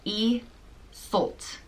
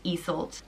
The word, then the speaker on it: Iseult: pronounced Iseult.